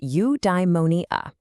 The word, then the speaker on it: eudaimonia: It's pronounced eudaimonia.